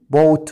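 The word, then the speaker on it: bought: كده باي الماضي منه بوت والتصريف التالت بوت خلي بالك كلمه بوت الجي اتش سايلنت فانت بتحفظ بقى باي بوت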